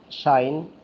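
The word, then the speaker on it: sinh: Now it can be pronounced as shine or cos.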